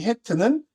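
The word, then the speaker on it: חית: 이 해트라고 있는데 이 해트는 담장을 형상화했다라고 보고 있습니다.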